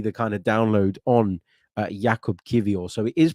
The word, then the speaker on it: Jakub Kiwior: kind of download on Jakub Kiwior. So it is pronounced like that, Jakub Kiwior. The W is pronounced as a V.